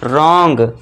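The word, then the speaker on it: wrong: यदि आर से पहले डब्ल्यू है तो यहां पे फिर से देखिए आर से पहले डब्ल्यू है तो यहां पे इसे हम साइलेंट कर देंगे और इसे क्या पढ़ेंगे? रॉन्ग।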